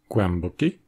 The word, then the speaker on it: głęboki: au niveau des lèvres, alors c'est le son [m], qui est donc à la fois nasal et labial, qui va faire naturellement la transition. Vous l'aurez deviné, les autres consonnes labiales que le [m] sont le [b] et le [p]. C'est encore une fois vrai en polonais, devant les consonnes occlusives labiales "b" et "p", avec des mots comme "głęboki", profond, "tępy", obtus et "dąb", le chêne.